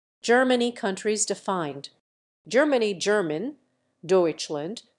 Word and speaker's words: Deutschland: Germany countries defined Germany German Deutschland pronounced dtland listen officially the Federal Republic of Germany is